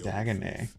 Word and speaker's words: Dagonet: I've heard tall tales about Sir Dagonet, the knight devoted to the Dagonet. So that's how you pronounce He is it.